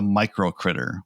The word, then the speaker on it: uCritAir: This brings me to the micro critter, which is spelled with a U, the micro symbol, ucritair, A-I-R. Air, like...